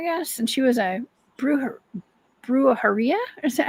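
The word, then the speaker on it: brujería: Brujeria. Am I pronouncing that right?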